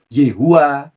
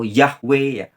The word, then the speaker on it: YHWH: sebagai youthevov atau yhwh ada yang membacanya Yehuwa atau yehuva atau yahwe orang-orang Yahudi menyebutnya sebagai